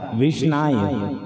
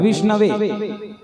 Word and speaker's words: विष्णवे: मूर्ख कहता है विष्णाय, और जो पढ़े लिखे होते हैं व्याकरण में पारंगत होते हैं तो सही शब्द का उच्चारण करते हैं विष्णवे, है ना।